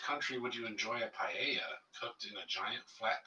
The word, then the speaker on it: paella: You get a paella. Yeah, I know that spelling looks weird. You Brook's probably like, "What in the world?" That's not a pa. But that is how it's pronounced.